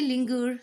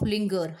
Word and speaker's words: linger: They say linger, soft G, instead of linger, hard G. And then they turn around the say singer, hard G, instead of singer, soft G.